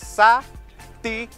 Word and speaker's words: Saticoy: Saticoy. Everybody, syllables, three syllables. Saticoy.